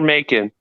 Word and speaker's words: Macon: town where uh near Macon okay please don't tell me it's spelled m-a-k-i-n oh it's m-a-c-o-n m-a-c-o-n making bacon you know no but